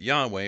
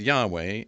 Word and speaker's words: Yahweh: he is so that there's a good reason to believe that yahweh was close to the original pronunciation of the name however there's another thing